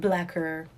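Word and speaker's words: Blacquer: It's called Blacker, but spelled with Q-U-E-R, because they're trying to be fancy.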